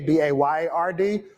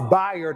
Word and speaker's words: Bayard: and I know that it's spelled like Bay B- A Y A R D but when you think about his name just think bisexual. Um it's Bayard Rustin, not Bayard Rustin.